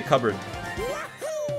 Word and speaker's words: cupboard: You don't pronounce this as cupboard? No, you say cupboard. C-U-B-B-A-R-D is probably a better way of spelling it.